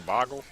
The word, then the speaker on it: Bogle: Is it Bugale? I think it's Boggle. Bugale. I'm gonna go with this guy. I was pronouncing it wrong. It is Boggle. Players do have Boggle.